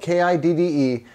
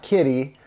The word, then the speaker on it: Kidde: So the new detector by Kidde, and it's spelled K-I-D-D-E. It's pronounced Kidde, not Kitty.